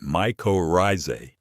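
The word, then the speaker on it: mycorrhizae: Microisy and you pronounce that micorise are beneficial fungi that form a symbiotic relationship with plant roots.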